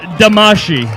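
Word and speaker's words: Damacy: handsome and it's pronounced damashii thank you very much here we go our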